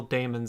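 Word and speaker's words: daemons: on it's just pronounced demons i know but i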